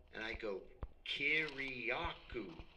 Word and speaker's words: Kiriakou: And I go, "Kiriakou," just like it's spelled.